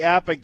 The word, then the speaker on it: APBA: APBA enthusiasts, and it is pronounced APBA, by the way, included Presidents George H.W.